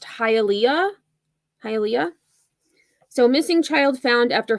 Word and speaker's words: Hialeah: I believe it's pronounced Hialeah.